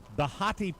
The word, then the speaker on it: Behati: Maroon 5 singer Adam Levine and Victoria's Secret model Bahati Prinsloo. Bahati? Did I pronounce her name? Bahati. Behati Prinsloo.